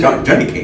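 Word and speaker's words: johnnycake: No, it's journey cake, but the way they pronounce it in the Caribbean is Johnny cake.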